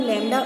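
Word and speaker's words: λ: ठीक है, इसको क्या प्रोनाउंस करेंगे? म्यू, और इसको बोलेंगे हम लैम्डा। उल्टा वाई जैसा जो होता है वो है हमारा लैम्डा, और यू जैसा जो होता है वो होता है म्यू।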